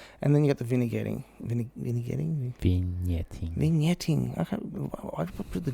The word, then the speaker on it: vignetting: And then you get the vignetting. Vignetting? I put the G in there. I don't know, it's vignetting. There you go. Take the G out.